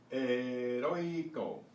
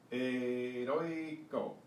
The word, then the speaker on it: heroico: H's in Spanish are silent except with the combination of CH. So we have heroico, heroico.